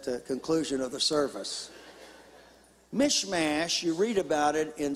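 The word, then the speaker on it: Michmash: of the the most interesting stories is about mishmash say that with me mishmash if you can spell it I'll give you 25 cents at the conclusion of the service mishmash you read about it in second Samuel and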